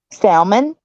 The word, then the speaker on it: salmon: Salmon. Salmon. BTM. What? I didn't hear you. Salmon. Wait, what'd you say? Salmon. Salmon. Salmon? It's not. The L is silent.